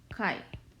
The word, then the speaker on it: chi: And this is a Greek letter chi, and we pronounce this as chi.